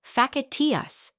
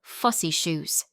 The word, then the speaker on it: facetious: When she tried using facetious in conversation, she pronounced it facetious instead of fussy shoes.